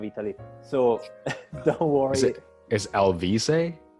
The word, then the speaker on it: Alvise: some parts of italy so don't worry is lv say i'll visit yes exactly okay okay i'll be i'm so sorry i butchered you no no problem at all so